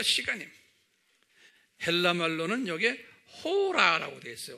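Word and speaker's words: ὥρα: 한번 발음해 볼까요? 샤아. 네, 샤아. 요건 지금 hour예요. 요 시간이에요. 헬라 말로는 여기에 호라라고 되어 있어요. 호라.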